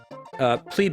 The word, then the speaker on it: plebe: Plebe is pronounced plebe. It's short for plebeian.